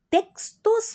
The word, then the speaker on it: textos: Aqui a pronúncia do X é diferente do espanhol. Nós é uma S, né? Textos. Muito bem elaborado. E espanhol é KS, textos, né?